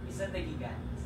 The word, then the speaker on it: Isla de Gigantes: Tama ba 'yung pagkaka-pronounce ko? Ah, Isla de Gigantes. Isla de de Gigantes.